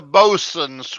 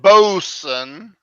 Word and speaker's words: boatswain: this gagging what's one we pronounce it bosun bosun but it looks like boatswain okay okay I think